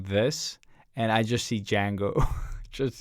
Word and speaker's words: Django: Dude, Like- I thought about Tarantino doing this, and I just see Django. Just, like Yeah. like when he goes into the mansion, just like Django butchers everyone. Yeah. The D is silent.